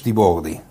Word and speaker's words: Tiboldi: And the second one is Tiboldi. Hello. Did I pronounce it correctly?